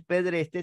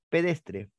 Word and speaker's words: pedestre: y por otro lado no es pedrete sino es pedestre no se dice limpiadora